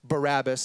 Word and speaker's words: Barabbas: where our brain goes but his name is pronounced Barabbas and as Jesus is led from the Jewish